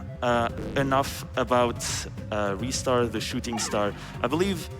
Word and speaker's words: Ristar: We also have a $25 donation from Ristar saying, Ristar is pronounced Ristar.